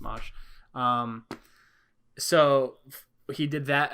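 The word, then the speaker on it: Mache: channel uh mosh customs m-a c-h-e yeah yeah pronounced mosh um so he did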